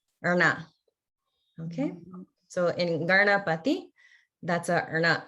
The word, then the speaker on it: Ganapati: And everybody notice that in Garna, the Erna sound is the retroflex. It's not like Ganna, it's Garna. So it's the where the tongue is pointing up towards the top of the head.